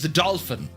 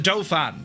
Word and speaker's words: Dauphin: So, you have a Dofan or you dolphin? It's a doofan. When you're in Ireland, it's a doofan because well, it was a doofan.